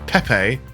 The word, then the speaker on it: Pepe: Next we have Pepe's cargo pack. It's definitely Pepe and not Peep and not PP or Pepe. It's Pepe because that is Pepe Le Pew.